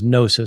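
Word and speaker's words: gnosis: Greek word for knowledge the Greek word for knowledge is nosis spelled with a G um GN o s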